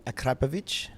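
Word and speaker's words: Akrapovič: There's a guy from Slovenia who lives just down the road from Akrapovic.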